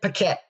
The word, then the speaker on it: Paquette: our previous episodes the challenge for me to pronounce her name all right let's all welcome Miss Katherine pette welcome to the creative Talk podcast hello hello